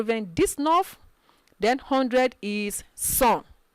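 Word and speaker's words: cent: disnerf then 100 is sun c-e-n-t that is pronounced sun this is where sanctuary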